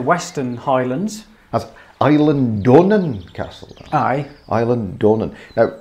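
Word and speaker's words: Eilean Donan: is in the western highlands island castle aye island dornan now it's not that we know how to pronounce it but i spoke to a really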